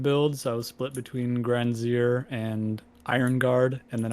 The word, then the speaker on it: Gran Syre: stop by there after grand slayer or grand zire i'm gonna start pronouncing it correctly granzier i don't think i've